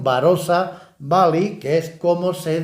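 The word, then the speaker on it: Barossa: lugar en Cádiz pero por esa pronunciación barrosa pues le pusieron barosa Bali que es como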